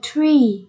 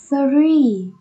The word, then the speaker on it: three: Số 3, các em nhớ đọc là âm thr và ri, thri. Các em đừng đọc là tree, các em nhé.